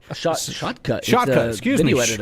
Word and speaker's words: Shotcut: OBS Studio, thank you, Brock, on that one, and Shortcut. Shotcut.